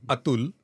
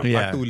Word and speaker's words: Atul: right yeah it is Atul Atul okay but you don't have th in English so Atul is fine I apologize yeah I